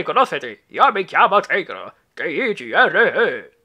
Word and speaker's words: Tigro: T-I-G-R-O. Si pronuncia Tigro.